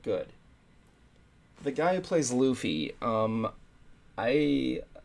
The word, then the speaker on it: Luffy: video that said um his name is Luffy not Luffy not loafy it's Luffy and I don't blame him because it does look like it's not it's spelled like Luffy yeah um thing too